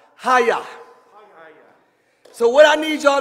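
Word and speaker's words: chayah: lexicon is h2421 and c-h-a-y-a-h is pronounced hayah so what i need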